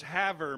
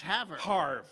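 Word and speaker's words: Havre: name and that's how there's there's Haver Montana it's spelled the same way h-a-v-r-e yeah and here's his Faber yeah you don't say that's have Montana yeah you know it's Haver yeah it's not hard whatever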